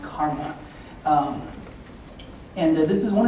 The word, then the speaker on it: CCRMA: and music and Acoustics at ccrma and it's pronounced Karma um and this is one of the two